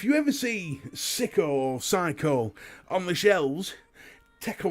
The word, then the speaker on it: Psycho: I've been calling it Sicko for a little while, and although I was wrong in calling it Sicko, because it's pronounced Psycho, I can tell you with personal expertise that